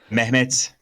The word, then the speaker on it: Mehmet: yeah, Mehmet. Oh, okay. So you pronounce the H, but it's really, really softer than in So it's an Arabic. aspirated H, Yeah.